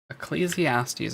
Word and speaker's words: Ecclesiastes: Pronunciation. Ecclesiastes, okay. The House of Ecclesiastes watches over the ship's central life support.